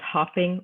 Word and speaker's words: hopping: Now, if I have hopping, H-O-P-P-I-N-G, as opposed to hoping, H-O-P-I-N-G, that double letter helps you understand whether you're going to pronounce it with a short vowel sound or a long vowel sound.